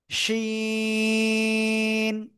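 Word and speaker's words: ش: এই যে জিহ্বার মধ্যখান, তার বরাবর উপরে তালুর সাথে লাগিয়ে শা শা শব্দ করে আমরা এই অক্ষরটা উচ্চারণ করব।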